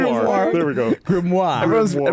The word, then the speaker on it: grimoire: Grimoire. Spell it. G r i m o i r e. Grimoir. Grimoire. Yeah. Yeah. Grimoir. Say it like that.